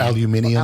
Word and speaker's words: aluminium: Aluminum, or however the British pronounce it. What is it? Aluminum. Aluminium. Aluminium. Yes. Aluminium. Yeah, there's only one eye.